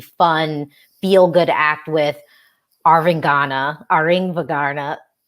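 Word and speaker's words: Arvingarna: But I do think we got the novelty, fun, feel good act with Aringvagana. Don't pronounce the G. The G is silent. Aringvagana. Oh, that's better.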